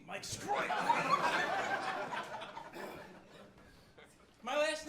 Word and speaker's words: Sgroi: My name is Mike Sgroi. It sounds like you're choking. Mike Sgroi.